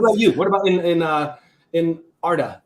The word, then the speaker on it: Arda: How do you pronounce it? Say it again. Erda or Erda. It doesn't really matter. I mean, I'm quite fluid with that. I've written it how it's supposed to be written. How it's pronounced is I'm quite open for the reader to pronounce it. Yeah.